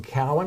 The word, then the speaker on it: Cowan: in the state championship, and that was Clayton Cowan. Is it Yep. Cowan? Okay. I want to make sure I get the pronunciation right.